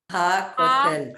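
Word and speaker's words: הכותל: And the kotel is Ha kotel.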